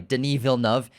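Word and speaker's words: Denis Villeneuve: well as best visual effects obviously directed by Deni VNV and yes that's how you pronounce his name we get a lot of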